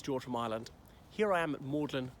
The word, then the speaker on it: Magdalen: Mailand Here I am maudlin College Oxford if you want to find it make sure that you spell it correctly it's spelled Magdalene so it's dedicated to